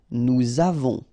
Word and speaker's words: nous avons: two, and then avoir, to have, nous avons, all right, so remember, pronom personnel, then the verb, you make the liaison.